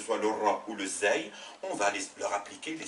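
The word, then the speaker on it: زاي: Et l'autre qui lui ressemble, avec un point dessus, cette lettre s'appelle Zey, Zey, et se prononce Z, comme un Z français.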